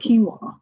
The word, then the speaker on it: quinoa: looked it up because it starts what q u i a so how do you say it so it's called quinoa just in case uh you didn't know how to say it so it is actually